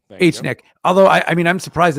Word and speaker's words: HNIC: But I mean, we're entitled to our opinion, just like the HNIC, H-Nick folks. Say it properly. H-Nick.